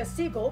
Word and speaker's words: Segal: the innocence by Francesca Segal which I believe is the more British way about pronouncing her last name which is a modern-day